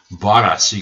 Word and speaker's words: Baris: And he gets out and asks if he is Baris, not Baris. Baris. He got the name wrong.